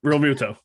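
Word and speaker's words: Realmuto: Real Muto.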